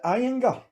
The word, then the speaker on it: Ayinger: How do you pronounce it? Is it Ayinger? Ayinger.